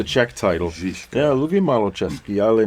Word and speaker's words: Žižka: Žižka for the Yeah, perfect pronunciation. the Czech title. Žižka.